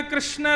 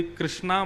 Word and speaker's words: कृष्ण: कृष्ण लाल की बंधुओं कई लोग इस नाम को अशुद्ध बोलते हैं कई लोग कृष्ण बोलते हैं कई लोग कृष्ण बोलते हैं कोई कृष्णा बोलता है भगवान का नाम शुद्ध उच्चारण करो नाम क्या है कृष्ण भगवान जय श्री कृष्ण कृष्ण